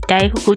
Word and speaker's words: 大福: 大きい福と書いて大福と読む。